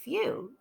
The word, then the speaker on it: few: lot about this word whew like also it rhymes with clue and drew and Moo excellent all right let's